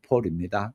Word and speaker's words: Paule: 채운 다음에 이르와 폴이 폴입니다. 남자 이름의 폴이 아니고 P A E 이렇게 돼서 폴입니다. 영어식 이름에서의 폴은 대부분 그 남자 이름이거든요. 예를 들어서 영어식 이름에서 폴린 폴린이 되어지면은 여자 이름이 됩니다. 그런데 여기서 발음은 같은 폴일지 모르는데 여자 이름인데 폴로 그렇게 나와 있습니다.